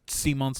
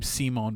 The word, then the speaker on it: Simon: said the names yet the little boy's name simone by the way it's kind of like simon but no it's pronounced simone no don't get any